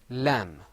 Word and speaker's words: لام: Lam. Lam. Say that with me. Lam. لام Lam. لام This lam sound is pronounced from the very beginning, which you see on your screen.